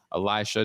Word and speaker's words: Elisha: Elisha, did I say it correctly? Is that? Yeah, it's Elisha.